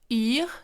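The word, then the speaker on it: Yr: ai déjà conseillé dans plusieurs épisodes qui s'appelle yves donc ça s'écrit y r c'est une application qui est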